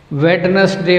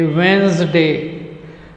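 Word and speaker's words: Wednesday: वेडनेसडे बोलते हैं कई बच्चे, वेंसडे, वेंसडे और सैटरडे।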